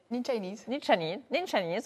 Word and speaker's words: Ninchanese: Cette application, elle s'appelle Ninchanese. J'ai bien prononcé ? Ninchanese, voilà, presque l'accent.